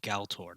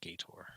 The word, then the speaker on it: Galtor: it's it's a historical gal tour not gator there's an lm there oh galtor oh my bad all right i've been pronouncing that wrong for years yeah there's a little l that sneaks in there yeah who cares about